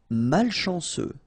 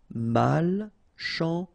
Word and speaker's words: malchanceux: Malchanceux. Final X not pronounced. C-E-U, ce, malchanceux. Malchanceux.